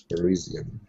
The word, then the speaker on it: Parisian: it's Parisian perisian perisian yeah we have perisian and then we have also Persian Persian it's from Persia you know we slightly pronounce it differently uh which is from Iran but this is perisian perisian is person from Paris all right world readed